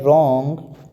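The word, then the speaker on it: wrong: गया साइलेंट हो गया इसी प्रकार डब्ल्यू आर ओ एन जी इसको बोलेंगे ओर रॉन्ग wi-fi STD इसको बोलेंगे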